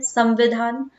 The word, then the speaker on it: संविधान: संचालन संविधान संविधान अच्छा एक चीज फिर से अब यहां प म का प्रोनाउंस हो रहा है संविधान संविधान ठीक है लेकिन अब क्या म